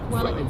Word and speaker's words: Vueling: Vueling is pronounced Welling.